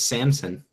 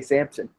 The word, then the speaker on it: Samson: Now people won't mispronounce his name because it's not Samson; it's Samson. True. Hey, a lot of people did say Sampson.